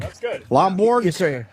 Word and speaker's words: Lomborg: Lomborg, not Borg. That's good. Lomborg?